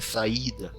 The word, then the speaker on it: saída: Se fosse a mesma sílaba, a pronúncia da palavra não seria saída, esse novo esforço no I. Seria assim, ó, saída. Em vez de saída, saída. Entendendo? Daí seria ditongo se fosse saída. Mas é saída, um I forte aqui.